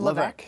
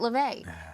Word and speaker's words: Levesque: Do you pronounce your name Levesque? Levesque? Yes. Okay, good. Because I know somebody who pronounces it Levesque, which I've always argued with her. Yes, that's not the right pronunciation.